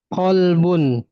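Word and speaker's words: قلب: Kemudian ada lafaz pakai qop qolbun ya. Walaupun satu ee ee dekat makhrajnya ya. Kalau kaf itu dia pangkal lidah menempel pada langit-langit lunak dan keras. Sedangkan qf itu menempel pada langit-langit lunak saja ya. Maka artinya beda. Kalbun anjing qolbun ya hati.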